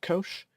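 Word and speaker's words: cosh: sine is pronounced cinch hyperbolic cosine is pronounced Kosh hyperbolic tangent is pronounced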